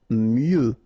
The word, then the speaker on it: mieux: Mieux. Final X not pronounced.